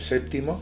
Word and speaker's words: séptimo: sea la sexta del Séptimo séptimo con p que el ambiente donde yo me muevo no lo pronuncia nadie séptimo Quién dice séptimo séptimo septen o seeno